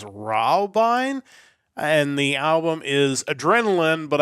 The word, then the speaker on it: Adrenalin: and the album is adrenaline but I believe it's adrenaline the German word for it all these titles are in German so I'm about to butcher